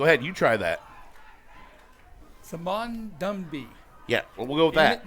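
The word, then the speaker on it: Ndumbi: That's complete to number 18, Simon Numbi. N-D-U-M-B-I. Go ahead, you try that. Simon Dumby. Yeah, we'll go with that. The N is silent.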